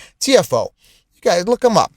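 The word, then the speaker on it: Tiafoe: The the amazing US uh tennis player pronounced that's his nickname, T I A F O E. TFO.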